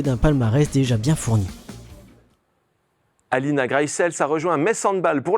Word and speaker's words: Greissels: Quelle est la vraie prononciation de ton nom de famille? I would say Alina Greissels.